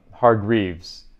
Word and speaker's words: Hargreaves: It's spelled Hargreaves.